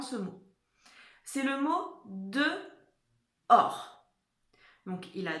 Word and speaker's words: dehors: Et or, c'est là où on va trouver le H qu'on n'entend pas, d'accord?